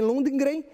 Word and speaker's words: Lundgren: Lundgren Lundgren se chama se pronuncia assim Lundgren escreve l u n d Lund Lund g r e n lunden Lundgren não sei